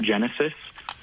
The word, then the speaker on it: Genasys: It's Protect Genesis. Genesis is spelled a little funky.